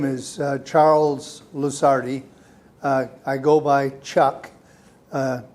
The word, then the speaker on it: Lusardi: the audience please okay my name is charles luzardi i go by chuck uh luceri is spelled l-u-s as in sam a-r-d-i is that